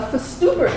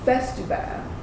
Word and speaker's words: Festubert: Now some of you may have noticed that downtown Duncan has a Festubert Street. At least that's how I pronounced it until I researched that it is actually Festubert.